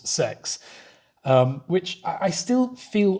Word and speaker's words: sex: another funny one and sex means six but it's spelt sex as in the english intercourse sex um which i still